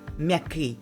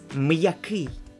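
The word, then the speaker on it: м'який: two sounds like miyaki it's not meki it's miyaki miyaki which means soft apostrophe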